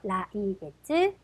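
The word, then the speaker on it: 来月: 라이겟츠.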